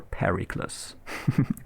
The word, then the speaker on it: Pericles: Pericles. Or Pericles, if you want to pronounce it English.